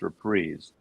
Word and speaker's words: Reprise: records it's not it's reprise rhymes with knees it's like candid candy